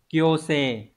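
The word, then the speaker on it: 強制: Đọc là kyose.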